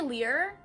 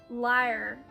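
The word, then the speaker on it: lyre: liar and the flute some people say lear or like lira even but like it's spelt l-y-r-e so liar anyway i'm learning that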